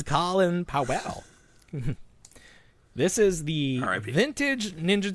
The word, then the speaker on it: Colin Powell: Because not everyone was like well who the hell's a colon pal? I know that's what How do you pronounce that? Isn't it Colin? It's Colin Powell.